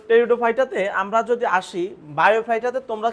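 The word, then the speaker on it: Pteridophyta: তো এখানে পির উচ্চারণটা হবে না আর কি।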